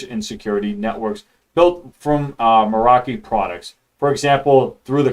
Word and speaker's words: Meraki: I was definitely pronouncing that wrong. Meraki.